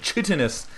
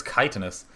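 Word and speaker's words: chitinous: chus plating titanus plating a guy actually messaged me yesterday and just told me how to pronounce it cuz I always said chitus with my silly uh American Hooked on Phonics w breeding but that is kitus so we're going to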